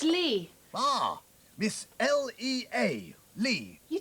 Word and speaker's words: Lea: what's your name young lady my name it's lee ah miss l-e-a lee you don't spell it like that of course you do l-e-a-ly